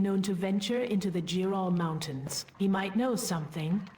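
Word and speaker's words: Jerall: Jural.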